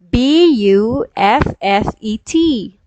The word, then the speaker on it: buffet: word so i will say how do you pronounce b u f f e t how do you pronounce b-u-f-f-e-t so the feature